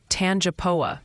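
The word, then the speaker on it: Tangipahoa: you pronounce the tangoa parish in Louisiana it's pronounced tanapa Parish back to you Ryan it seems wrong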